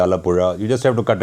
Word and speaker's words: Alappuzha: So, that meri mummy sound is the one that is in Kanimozhi Alappuzha.